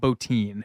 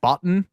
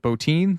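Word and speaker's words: Bottin: we come to Rob botin whose name I don't know why it's pronounced like that it's spelled Boton but it's everyone calls it botin so sure um that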